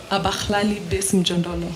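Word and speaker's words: Abahlali baseMjondolo: Abalali, how to pronounce it? Abakhlali Besimjondolo.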